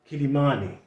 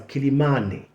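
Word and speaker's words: Quelimane: Now, the local people actually pronounce that name as Kilimani, okay? But when you saw it from the old map, which was with a K, people could read that in English as Kilimani or something like that. Okay, but the local people pronounce that as Kilimani.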